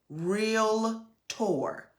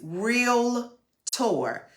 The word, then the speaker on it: REALTOR: real realtor it is real tour there is no a in between the r e a l t o r between the l and the t no a so a real tour so that the definition